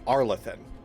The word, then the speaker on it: Arlathan: time knew how they were going to be pronounced. It's Arlathan.